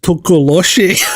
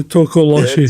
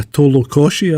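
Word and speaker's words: Tokoloshe: Oh, I think at one point in the video I actually mispronounced it. I call it a Tolokoshi, I think.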